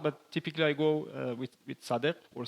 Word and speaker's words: Sadegh: that is compound, but typically I go with Sadegh or Sadegh, if you will pronounce this way.